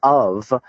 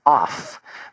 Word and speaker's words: of: Like the word of is not spelled O-V, it's O-F, which if we really were to say it phonetically would be off, but that's not what it is.